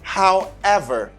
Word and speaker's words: however: video avec every ever however however the stress is in ever acceptor neglect is whoever